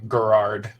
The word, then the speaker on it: Gerard: we have her right it's a hard G gérard gérard yeah it he's the